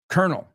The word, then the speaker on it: colonel: words in English because even though it has an L in it we pronounce it with an R so we say colonel where's the kernel the